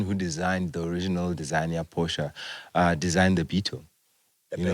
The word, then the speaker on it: Porsche: And you know the funny thing is that the person who designed the original designer Porsche designed the Beetle.